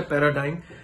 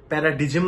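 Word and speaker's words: paradigm: number seven প্যারাডাইম shift প্যারাডাইম উচ্চারণটা দেখো প্রোনাউন্সিয়েশনটা প্যারাডাইম কিন্তু স্পেলিং দেখো পি এ আর এ ডি আই জি এম প্যারাডিজেম নয় প্যারাডাইম শিফট প্যারাডাইম শিফট মানে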